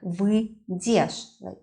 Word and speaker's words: выйдешь: "Я выйду, ты выйдешь" (with the not pronounced "й" very clearly here, it's more like "вы-дешь" without "й" at all), "ты выйдешь, он/она выйдет, мы выйдем, вы выйдете, они выйдут".